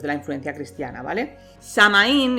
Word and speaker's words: Samhain: los celtas sobre todo con samaín que bien pronunciado porque lo he buscado soy una persona responsable sería algo así como soul vale pero bueno para que me entendáis todo el samhain vale el nombre de